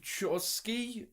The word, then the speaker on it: Chbosky: latest film from Steve Shore ski Chbosky it's silent B who's the dude that